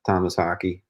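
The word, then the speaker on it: Tomas Haake: think he's to me even he's succeeded uh Thomas hockey that's how you say his name like I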